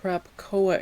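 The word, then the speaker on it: Krakoa: So, during the crapcoa era, that's how you say it, by the way.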